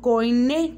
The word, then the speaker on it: koiné: Más específico, el griego koiné, con acento en la E.